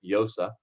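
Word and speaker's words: Llosa: name all the time frank yosa the double l's osa but um go ahead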